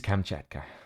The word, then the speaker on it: Kamchatka: And this is the first time that I actually get to announce the 5th map today, which is Kamchatka. Whew. Feels good saying that. Although I probably butchered the name again.